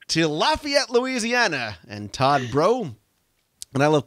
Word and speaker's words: Breaux: Moving on to Lafayette, Louisiana, and Todd Bro. And I love calling him Todd Bro, even though it's spelled Breaux.